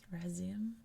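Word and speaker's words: Razelm: It is the Razilm Lake Razilm. I think it's another place where, depending where you're from, it's pronounced differently because it looks like here it's Razim.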